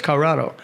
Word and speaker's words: Colorado: Colorado or Colorado well it's really it's a three-syllable word there it's Colorado you just sort of drop a couple of syllables okay I live in